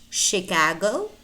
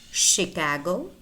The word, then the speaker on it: Chicago: more words that are spelled to eat and pronounce touch so you need to learn them by heart Chicago Chicago Champaign parachute parachute Michigan Michigan brochure brochure chandelier